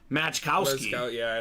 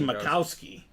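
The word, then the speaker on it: Majkowski: wrong now Don macowski his name gets butchered a lot too because it looks like match Kowski but it's actually macowski uh so oh you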